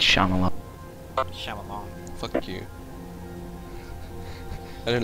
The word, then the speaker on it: Shyamalan: It's Shyamalan. Shyamalan. Fuck you. I don't like pronunciation.